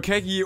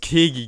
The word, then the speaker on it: Kegy: Der Fakt ist Kaki, das ist Ian Kaki. Okay, also wir wissen schon mal, ich habe ihn damals Kegi genannt, obwohl er Kegi heißt und ja, das ist schon echt dumm.